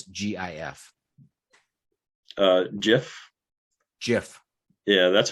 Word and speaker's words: GIF: the gif or gif gif how do you pronounce gif uh jif jiff yeah that's how i pronounce it not